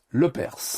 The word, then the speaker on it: Lepers: Bon nom de famille le perse. Rénom prononce bien le s à la fin.